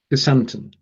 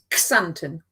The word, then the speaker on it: Xanten: Xanten. Xanten. Xanten. Oh, we tried this before, and my pronunciation is going to be close, possibly.